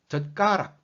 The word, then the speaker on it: 젓가락: 젓가락. 젓. The 사 comes at the end of the syllable. 젓. So it sounds like T.